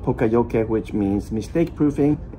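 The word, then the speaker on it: poka-yoke: because Toyota really works with this principle called Poka Yoke, which means mistake proofing. It's not pronounced Poka Yoke, which a lot of people do. It's pronounced Poka Yoke.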